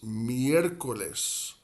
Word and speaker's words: miércoles: So we would say for Wednesday in Spanish, miércoles. Miércoles. Miércoles. Miércoles. Miércoles. And that first E, miércoles, like the start of that second syllable, miércoles, that first E is where the accent is placed in miércoles.